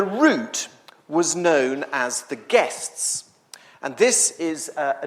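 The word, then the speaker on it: gists: And guess by the way if you um are trying to write it down is spelled G I S TS which is a bit confusing.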